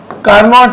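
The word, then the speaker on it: Carnot: सबसे important पार्ट ये है देखो कार्नॉट है बोलने के लिए कार्नोव बोलेंगे टी साइलेंट है फ्रेंच है ये पहला लाइन बहुत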